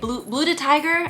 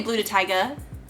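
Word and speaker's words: Blu DeTiger: do you say it blue to Tiger I think that's how you say it because I always say blue to Tyga that's not correct I have everything to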